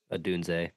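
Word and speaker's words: Odunze: Is it Adunze? How do you say it? Rome Adunze? Adunze? Adunze.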